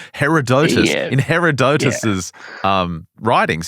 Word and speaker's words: Herodotus: I don't think Plato was saying well herodot Herodotus uh thinks the pillars are somewhere other than